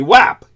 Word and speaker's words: UAP: but I don't think anyone ever pronounces it the way that I do, which is the way people in the military would. And that would be WAP.